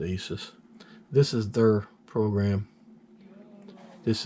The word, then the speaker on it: ASUS: here GPU tweak - from Asus I believe you pronounce it ASIS this is their program